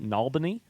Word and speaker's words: New Albany: Also, there is a place very near Louisville, Kentucky called New Albany, which is pronounced Nalbany, which I'd say is just accent.